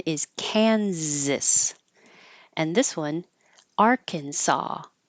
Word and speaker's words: Arkansas: cansas and this one Arkansas so even though you see the same letters in the same order they don't sound the same at all Kansas and Arkansas this ch here sounds